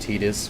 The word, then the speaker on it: Tidus: For, it's actually pronounced Tidus, which I'm not a fan of ever, but...